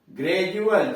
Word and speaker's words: gradual: फिर ध्यान से सुनिए, जब किसी वर्ड में डी के पहले एक से अधिक लेटर्स हो, अक्षर हो, और डी के बाद EUR, IER, UA, URE हो तो डी का उच्चारण ज होता है, ड नहीं होता है।